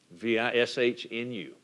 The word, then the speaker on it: Vishnu: You also hear it pronounced in different ways, Shiva. And Vishnu, V-I-S-H-N-U.